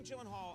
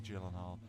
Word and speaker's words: Gyllenhaal: So shouldn't it be like the only two places that that is pronounced correctly, my last name like you did just now is in Sweden and in IKEA.